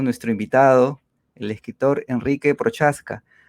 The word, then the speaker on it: Procházka: invitado el escritor enrique procházka aunque creo que la pronunciación más bien exacta es prohass cariano y américa gira